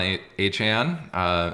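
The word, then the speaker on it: Achane: be interesting playing both Devon aan uh which is how he pronounces his name as well as Raheem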